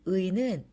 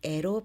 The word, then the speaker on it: 의: 이렇게 명사 뒤에 오는 의는 의 또는 에로 발음할 수 있어요.